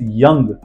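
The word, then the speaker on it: young: हमारा first rule है अगर दिए गए शब्द में दिए गए वर्ड में ओ के बाद यू आता है वहां पर ओ साइलेंट हो जाता है let's see some example our first example is यंग अब ध्यान से देखिए यंग वाई ओ य एन जी ओ के बाद यू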